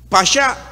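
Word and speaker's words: פסח: es una palabra que del hebreo que se pronuncia pasa significa por lo menos tres cosas importantes una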